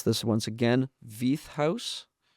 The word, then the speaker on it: Veith House: now and that's I know I'm going to mispronounce this once again, V House.